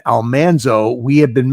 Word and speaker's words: Almanzo: And that was the recording where I discovered or was had confirmed for me that we had been mispronouncing the name Almanzo. It should have been Almanso.